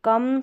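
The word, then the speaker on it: come: वो साइलेंट है तो कम सम ये आप ऐसे याद रख लें ठीक है कम सम यहां पर ओ एम को अम पढ़ा गया है लास्ट में इ है वो साइलेंट है और यहां है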